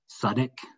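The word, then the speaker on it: Southwark: And the British English, there's a particular pronunciation, Suddick, I think. I'm not sure if this is Suddick in Philadelphia County or if it's on the south bank of the Thames, this example.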